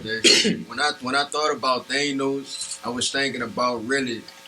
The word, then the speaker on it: Thanos: He asked me earlier, how you pronounce that song? T-H-A-N-O. Thanos.